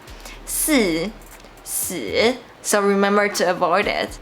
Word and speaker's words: 四: Because Four in Chinese sounds like death. 四、死 so remember to avoid it.